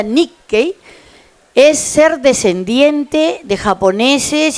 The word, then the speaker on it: nikkei: Nick no es Nicki por si acaso se pronuncia Nicki es ser descendiente de japoneses y japonesas nacidos y nacidas fuera de territorio japonés por lo tanto hay Nicki en Argentina chile Bolivia Estados Unidos Hawai París